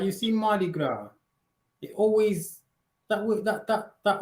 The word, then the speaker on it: Gras: okay and then girl because the S is silent oh Gra that means